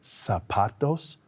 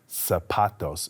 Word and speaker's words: zapatos: These are shoes, or in Spanish, they are called zapatos. Can you say zapatos? Zapatos is spelled with a Z, but it's pronounced zapatos.